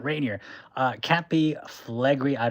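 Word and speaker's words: Rainier: Billy Hill Billy Hill says, "Mount Reineier." I know Americans don't like it when I pronounce it like that. Mount Reineier. It's Mount Reineer.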